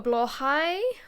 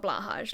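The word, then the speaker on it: Blåhaj: yesterday I bought a blah High which is how it's pronounced not blahaj like most people say it um which I'm always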